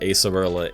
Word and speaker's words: Acerola: don't think I I wasn't sure was it AAR Rola or I think that's a that was a little debate amongst the community but I think they did pronounce it acerola in the in the animea to like confirm it um okay Agatha